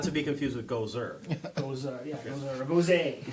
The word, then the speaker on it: Gose: Goza. That is the correct pronunciation. I looked it up. And Two Roads Honey Spot Road. So, not to be confused with Gozer. Goza, yeah, Goza, or Gose.